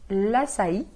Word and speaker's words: l'açaí: Agora, a l'açaí, e tá vendo que tem uma trema no i? É justamente para que esse i seja bem pronunciado.